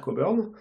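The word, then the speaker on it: Cockburn: décrire les new skies qu'est la manière d'alistair coburn qui entre parenthèses se prononce comme ça pour respecter la prononciation à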